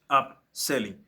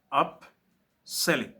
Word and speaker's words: upselling: Then hy selling S 2 L up selling Up Hen S e two L I N D. Et ça se prononce up selling app selling et je disais que le app c'est le